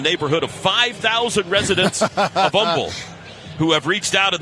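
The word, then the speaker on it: Humble: 5'11 out of Umble, Texas. You do not pronounce the H. I'd like to thank the somewhere in the neighborhood of 5,000 residents of Umble who have reached out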